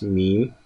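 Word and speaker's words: میم: And the next alphabet of today's lesson is meme. Meme. Okay, and in English language it is pronounced as meme.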